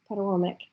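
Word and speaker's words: Patawomeck: proud member of the Patawomic. Did I say that right? I looked it up, and I looked up the pronunciation, and it was Patawomic, but I just haven't said it very much.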